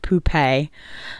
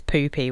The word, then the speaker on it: Poupée: I think you pronounce it poupée. But, you know, to my British eyes, I kind of always read it as poopy, which is a terrible name.